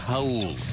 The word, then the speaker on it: Raul: It's spelled like the Spanish Raul, but again, it's Portuguese, and that's the way it's pronounced, Raul.